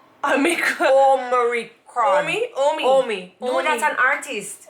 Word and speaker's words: Omicron: It's not Omni, it's. Am I still saying it wrong? Omicron.